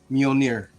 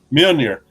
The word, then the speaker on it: Mjolnir: How do you pronounce it? The hammer? Mjolnir. Mjolnir.